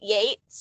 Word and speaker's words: Yeats: pronounced differently and like beat yates is looks like it should rhyme but doesn't yes um but yeah